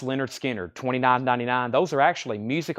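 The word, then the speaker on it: Lynyrd Skynyrd: $29.99 it's the classic it's the great pronounced Leonard Skinner $29.99 those are actually Music On Vinyl pressings that are $39.99 now they're $29.99 Leonard skinnard pronounced Leonard skinnard $29.99 pronounced Leonard skinnard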